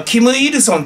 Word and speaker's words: 金日成: でねあのまあ金日成って書いて向こうではキムイルソンって発音するらしいんですけれども日本では金日成でこれもあの